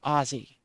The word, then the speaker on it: Aussie: Someone from Australia is called an Aussie. So when you shorten it, it becomes a Z sound.